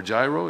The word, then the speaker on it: Giro: Is that Giro or Giro? It's Giro.